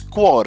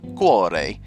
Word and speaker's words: Cuore: by Adrien Perez that actually it's quare it's Italian for heart so it's the dhatu quare uh I did say